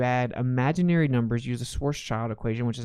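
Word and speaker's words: Schwarzschild: he had to add imaginary numbers use a source child equation which is how you pronounce it and it still doesn't work it's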